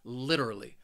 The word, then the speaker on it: literally: has four syllables and the stress is on that first syllable that third syllable it it has that schah that uh literally and when somebody uses